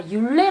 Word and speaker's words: Hylé: 아 , " 힐레 " 라고 발음 하는 거 였군 요 . 일부 유럽 언어 에서 는 해당 글자가 묵음 이므로 " 일레이 " 로 발음 됩니다 .